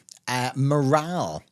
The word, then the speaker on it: morale: The reason for this slightly strange pronunciation, at least strange pronunciation to an English native-speaking ear, is that this comes from French. And whenever you hear a word in English and the pronunciation is a little bit confusing for you or can cause problems, often that means it came from French. So, coming from the French word moral there, but this is